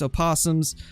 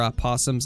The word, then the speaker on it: opossum: deer mink muskrat raccoons opossums or opossums i always i always say it wrong just because of the oh uh rabbits squirrels nutria